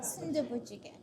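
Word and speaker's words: 순두부찌개: How do you pronounce it? Jjigae? Sundubujigae.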